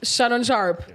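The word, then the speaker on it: Shannon Sharpe: the story no okay is that how you pronounce his name it is shanon sharp mhm all right oh the the guy with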